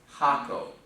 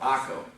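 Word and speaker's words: hago: Haco. Or not Haco, Aco. It would be Aco, because the H is not pronounced.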